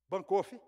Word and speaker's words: Berkhof: Segundo Berkhof, como é que se pronuncia? Berkhof ou Bancoff? Bancoff, obrigado, pastor.